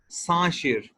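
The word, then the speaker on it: 三十: 30 को किस तरह से प्रोनाउंस करेंगे, सांशिर।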